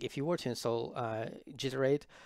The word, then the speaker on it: Giter8: you were to install jitter 8 or g8 which is pronounced iterate yourself then you would